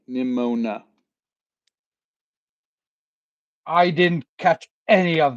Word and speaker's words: Nimona: It's funny because I can't hear the word metal without thinking of Nimona.